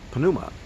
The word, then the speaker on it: pneuma: pneumatic but the greeks did they would have pronounced it the pnuma and so when he breathed on them now